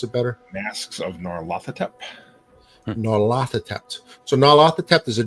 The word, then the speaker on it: Nyarlathotep: I'll let you say the campaign, Professor, because you pronounce it better. Masks of Nyarlathotep.